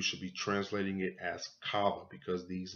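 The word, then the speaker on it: חַוָּה: the name Eve was translated from but you pronounce this cava not Eve Eve actually comes from the Greek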